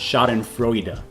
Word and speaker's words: Schadenfreude: fraud pool okay so google's telling me that that word is pronounced shot and froyda all classic sneakers are